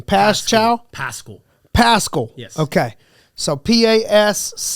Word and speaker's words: Paschall: Paschall. Yes. Okay. So Paschall. Pronounced Paschall.